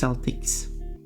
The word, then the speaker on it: Celtics: It's NBA team actually, and yeah, it's pronounced Celtics.